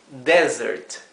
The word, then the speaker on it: desert: postre ahora es desierto y se pronuncia diferente esto es Desert Desert O sea qué cambió ahí cambió la sílaba tónica ahora es la primera sílaba y la s suena como un zumbido suena como Z si no suena suena Z por lo tanto tenemos